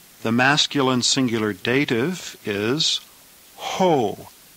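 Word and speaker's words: ᾧ: The masculine singular dative is ho. Again, notice the iota subscript for the singular dative. The iota is not pronounced, though, but it must be written. This is pronounced ho.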